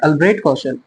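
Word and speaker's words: Albrecht Kossel: अल्ब्रेट कौशल। अल्ब्रेट कौशल है ना, CST silent है पर।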